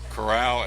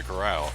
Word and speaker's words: Corral: and so Matt I've heard to pronounce both ways caral and Coral c o r r a l I'm going to say Coral Matt caral the number